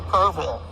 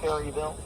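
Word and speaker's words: Kerrville: This is this is up near Kurville and it's pronounced Kurville, not Carville.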